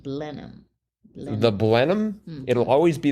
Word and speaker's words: Blenheim: to the Blenheim Palace I believe it's pronounced blenham the blenham it'll always